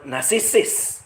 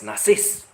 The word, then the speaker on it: narcissist: she also says or use the word narcissist but she pronounce it as nasis.